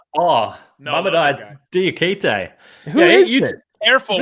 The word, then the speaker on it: Mamadou: Mamadi? Oh, no, Mamadou Diakite.